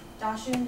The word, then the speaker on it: dachshund: is badger and then wound is dog which dashing is how you say it in German um